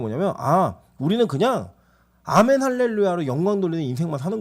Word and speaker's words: 아멘: 그리고 영어로는 이걸 에이멘이라고 하는데 영어보다 한글이 훨씬 더 원래 본토 발음에 가깝습니다. 그러니까 아멘이 맞아요.